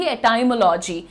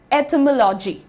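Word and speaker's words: etymology: अभी बहुत रिसेंटली तक बहुत कंफर्टेबली कहती थी एटाइमोलॉजी। लेकिन दोस्तों आप यहां पर ध्यान से देखिए। इसका प्रोनाउंसिएशन तो मैंने लिखा ही नहीं। ओ ये रहा। ठीक है? ये रहा प्रोनंसिएशन। इट इज़ एटमोलॉजी।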